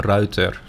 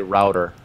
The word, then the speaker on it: Reuter: teach you at least the right pronunciation of the word Reuter and that is a writer writer right oh yeah I know I know a lot of people say router yeah but yeah a